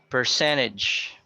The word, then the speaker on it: percentage: Then we have percentage. So it's on the second syllable.